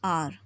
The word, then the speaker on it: hour: Same is the case here with an hour. An hour. H is silent here and it is producing sound of O.